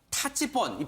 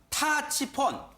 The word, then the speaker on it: 타치폰: 스마트폰 있으 가 궁금하실 텐데 북한에도 요 1명 타치 폰 발음이 중요합니다 타치 폰 타치 폰이라고 하는 스마트폰이 있는데 열풍이 불어 이때